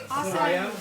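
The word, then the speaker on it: açaí: Acai.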